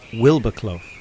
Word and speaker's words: Wildboarclough: around this little village this little peak district village is supposedly pronounced wilbercloff but i've still yet to hear it pronounced this way there are several theories